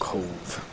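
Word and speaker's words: Cobh: C-O-B-H, pronounced Cove.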